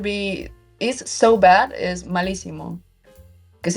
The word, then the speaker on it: malísimo: Malísimo lleva acento en la I, por cierto, la primera.